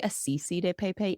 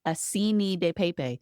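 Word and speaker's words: acini di pepe: I always say assisi de pepe, and it's assini de pepe.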